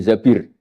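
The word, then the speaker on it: الزَّبِير: Kemudian saya nikah sama Abdurrahman bin Zabir. Di hadis ini bukan bacanya bukan Zubair tapi Zabir.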